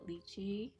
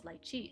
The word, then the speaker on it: lychee: Because like in Mandarin, like most Mandarin speakers do pronounce it lychee, um, like in English, but in Cantonese it's lychee. So I say lychee, and so does the rest of our family.